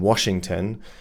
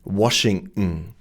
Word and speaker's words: Washington: So, they just assume, well, this is how we pronounce it in German. This is going to be understandable in English as well. But this is Lon Washington. That's their German pronunciation rules. They're not English pronunciation rules.